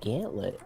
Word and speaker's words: gantlet: Or is it, I guess it's actually technically pronounced gantlet, I learned. What? I'm losing so many hearts. It'd be gantlet. Because it's spelled G-A-N-T-L-E-T.